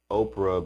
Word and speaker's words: Oprah: oprah is the or oh orpah is the name of the biblical figure in the book of ruth she is known as oprah because people mispronounced her birth name often when she was growing up if my name was